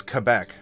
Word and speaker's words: Quebec: it off by the way Clark I am pronouncing it correctly it is Quebec like right and not and not too high